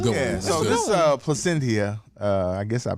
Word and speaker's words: Plasencia: So this Plasencia, I guess I pronounced it correctly.